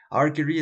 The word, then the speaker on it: archery: Archery, esta se pronuncia archery con K, no con CH, no es archery, es archery, es arquería.